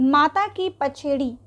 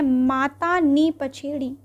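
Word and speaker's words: માતા ની પછેડી: Next है, माता की पछेड़ी। माता की पछेड़ी किस पर बनाई जाती है? फ्रेंड्स, यहाँ पे हिंदी में प्रोनाउंसिएशन थोड़ा गलत हो गया है, ये है माता नी पछेड़ी।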